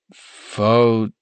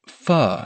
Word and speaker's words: Pho: Faux 17, I said, reading the name out loud. Is this a restaurant? It's not faux like fake. It's pronounced fu as in fu king incredible.